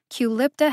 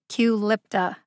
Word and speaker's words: Qulipta: of brand name drugs culipta has only three syllables the emphasis is on the second syllable lip culipta there's nothing particularly tricky